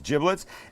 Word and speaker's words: giblets: the bag of giblets and that's how it's pronounced not giblets it's giblets and in here would be liver would be